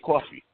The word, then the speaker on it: Cawfee: And I just came up with the idea of Bada Bean as a coffee bean and using the right way of saying it, coffee.